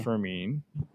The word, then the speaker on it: Fermin: my spreadsheet, but Freddie Fermin. Is it? Yeah, I didn't know if it was Furman or Fermin. It's Fermin. Fermin is the way to pronounce it, I believe.